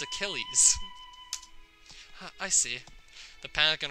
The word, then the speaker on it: Achilles: afraid we can't accept that pronunciation its Achilles I see the panic